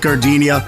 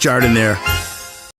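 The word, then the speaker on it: Giardino: Hey guys, when you're at the counter, don't call it Gardinia. It's pronounced jard in there.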